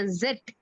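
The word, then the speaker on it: Zett: அப்சிலான் இல்ல எப்சிலான் எப்சிலான் நம்ம வந்து இட் ன்னு சொல்லுவோம் அவங்க ஜெட் அப்படின்னு சொல்லுவாங்க ஜெட் ஜெட் ஜெட் ஓகே இத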